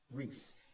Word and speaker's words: Reese: I thought they said Angie Reeve. Angel Reeve. Okay, Angie. It's Angel Reese.